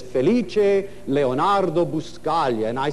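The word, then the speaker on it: Felice: but my real name my first name is feliche which is really a masterpiece it's spelled f e l i c and if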